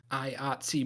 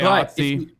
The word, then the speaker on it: IATSE: IATSE. But IATSE.